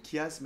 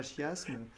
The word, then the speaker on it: chiasme: La prononciation, chiasme et non pas chiasme, zeugma et tout ça,